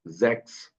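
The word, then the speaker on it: sechs: जाती है अंग्रेजी वाला एक्स, इसलिए हम इसको जैक्स ओके। बोल रहे हैं। लेकिन जब 16 है तो उसकी स्पेलिंग है, यहाँ पे सी एच के बाद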